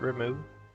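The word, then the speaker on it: Ramuh: do this also i don't like how they pronounce it remove i've only ever known it as ramu yes not gardenia this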